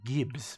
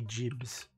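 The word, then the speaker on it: gibs: it was um uh i always assumed it was um gibbs but i'm told it's meant to be jibs so uh yes i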